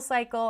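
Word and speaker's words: Psycle: I'm going to Soul Cycle. I'm going to Cycle. Um it's spelled with PSI. Um cycle.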